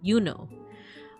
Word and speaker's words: Juno: It wouldn't have been pronounced Juno. It would have been Yuno.